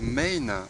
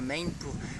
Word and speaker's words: MEIN: Main c'est ça, je vais participer à Main pour moi-même. Et puis bon ça fait aussi on peut le prononcer comme une main, c'est sa propre main voilà, ça nous appartient.